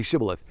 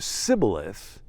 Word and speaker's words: shibboleth: all right say shibboleth say the word shibla that was a word that had to do with grain in ancient hebrew all right say shiboleth if he said sybilis because he could not pronounce the word correctly they seized him and